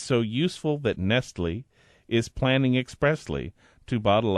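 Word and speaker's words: Nestlé: unneeded unneeded unnecessary wasteful that's Nestle with an E Accent on the E right Accent on the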